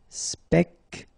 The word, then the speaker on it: Spectaculaire: Okay, so don't insist on the final E. So, l'air. Spectaculaire.